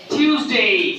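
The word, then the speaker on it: Tuesday: থারসডে থারসডে Friday Friday আমরা এইটাকে বলি হচ্ছে টুয়েসডে কি বলি টয়েসডে কোন শব্দ নাই সাউন্ডটা হবে টিউসডে টিউসডে টিউসডে টিউসডে টিউসডে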